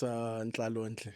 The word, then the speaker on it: Ntlalontle: Ntlalontle. I'm very sorry if I'm butchering your surname. You can correct me. Yeah, it's Ntlalontle.